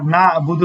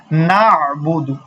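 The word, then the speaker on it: نَعْبُدُ: দেখেন কি আছে নাুদু শুধু যদি নাবুদু বলি তাহলে কিন্তু হবে না সেজন্য কি পড়তে হবে নাুদু নাুদু নাুদু তাহলে আমাদের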